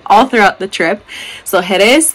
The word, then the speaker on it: Jerez: throughout the trip so heres the emphasis is on the second syllable kadis the emphasis is